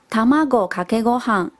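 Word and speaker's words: 卵かけご飯: 饭哦，日文是念作 Tamago kake gohan， Tamago kake gohan。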